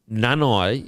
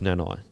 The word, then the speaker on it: Nanai: to talk about here uh oh so apparently nanai is not pronounced nanai apparently it's nana and i'm not taking the